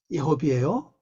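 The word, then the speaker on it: יְהוִה: 요거 예호베라고 발음하죠. 예호베입니다. 예호비예요. 여호와가 아니죠. 예호비.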